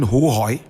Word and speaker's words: Ho: Correct pronunciation, Hohoy.